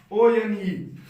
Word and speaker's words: one: एन क्यों नहीं लगाया, अरे भाई ओ आया है बट उसका उच्चारण व निकल रहा है, वह हमारा क्या है, कॉन्सोनेंट है, तो इसलिए आप 1 रुपी लगाते हैं, ठीक है।